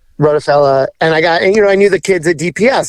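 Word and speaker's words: Rottefella: Rockefeller I think that's is that how you say it yeah wrote a fella yep rotofella and I got you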